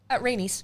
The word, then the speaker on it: Rhaenys: How do you pronounce it? Rhaenys.